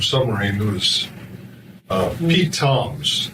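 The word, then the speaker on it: Tzomes: who is uh Pete Toms spells his name TZ mes but he pronounces it Toms uh we lost uh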